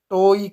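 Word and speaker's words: toe: देखो यहाँ पे अगर आप इंग्लिश के प्रोनाउंसिएशन के अनुसार चलोगे तो टो कहा जाता है, क्योंकि ई जो है लास्ट में क्या हो जाता है? साइलेंट हो जाता है।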